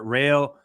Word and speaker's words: Raio: Rayo, I say it right?